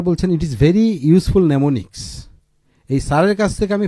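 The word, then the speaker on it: mnemonics: এবং স্যার বলছেন ইট is very useful নেমোনিক্স। এই স্যারের কাছ থেকে আমি ফার্স্ট নেমোনিক্স ওয়ার্ডটা শিখলাম। The first letter M is silent, ঠিক আছে?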